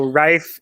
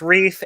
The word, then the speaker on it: Reif: like Benji's last name, the E and the I in this case forms an I sound. So Reif is the German correct pronunciation. Okay. But I don't mind when it's Reef, and I've even heard Raif once.